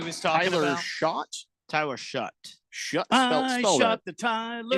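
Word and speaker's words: Shough: Yeah, Tyler Shot is probably who he's talking. Tyler Shot. Tyler Shut. Shut the Tyler. It's spelled weird.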